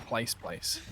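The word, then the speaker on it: plaice: Bottom of the So, I would like to go to place. It's a street. Oh. Oh, I've heard of it. Yeah, it's spelled P L A I C E. Yeah, like the fish.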